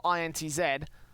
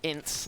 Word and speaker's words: INTZ: Or INTS, as some people call it. confusing because Incidents and a lot of the teams that kind of like sit along that similar sort of pronunciation line, so I'm going to call them INTZ.